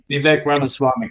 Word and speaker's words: Vivek Ramaswamy: I may mispronounce his name, but American politician Vivek Ramaswamy, I think his last name is. Vivek Ramaswamy, correct.